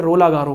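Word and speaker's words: Roland-Garros: किसी दूसरे नाम से जाना जाता है सौंपेंगे रोलां गैरो के नाम से टैक्स रोलां गैरो से तो इसकी स्पेलिंग डेढ स्पेलिंग यह है का पिछड़ापन है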